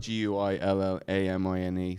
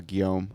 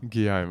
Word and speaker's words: Guillaume: It's spelled Guillamine. So we're like Guillamine, but like Giuliani? No, Guillaume. Guillaume.